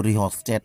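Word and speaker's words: rheostat: यहाँ पर है धारा नियंत्रक, यह धारा नियंत्रक जिसको रिहोस्टेट कहा जाता है, एच साइलेंट होता है इसका।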